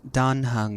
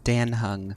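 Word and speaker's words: Dan Heng: Also, it's pronounced Don Hung, not Dan Hung.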